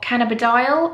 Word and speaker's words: cannabidiol: different things now um cbd oil or cannabidiol i think it's pronounced is a derivative from